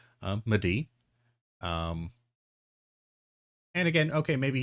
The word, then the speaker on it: Mehdi: It's Medi. It's like me. It's pronounced the way it's spelled. Um, Medi.